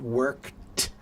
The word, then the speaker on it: worked: Sometimes the pronunciation of E D is like the letter T, like the one you just said, worked.